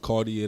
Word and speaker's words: Khardier: my name is cartier a lot of people don't know how to pronounce my name it's pronounced cartier the god right god stands for